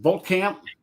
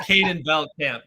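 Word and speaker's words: Caden Veltkamp: Um, Colton um, Voltamp. Hope I'm pronouncing his name right. Oh, no. No. Ken, come on. No, no, no. It's Kaden Belt Camp.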